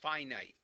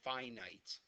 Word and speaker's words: finite: uh okay he he knows it but the pronunciation is finite you have infinite and finite take the i in away and f i n it is usually pronounced finite finite means it has an ending infinite goes